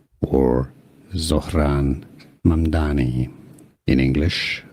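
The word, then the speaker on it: Zohran Mamdani: Politics, Zaran or Zran Mani in English pronunciation. Sauron Mani Sauron Mani.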